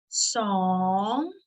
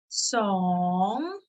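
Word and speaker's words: สอง: ส อ ง ส อ ง ส อ ง Remember, this is a rising tone.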